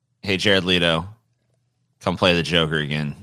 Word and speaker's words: Leto: It's pronounced Leto. Hey, Jared Leto.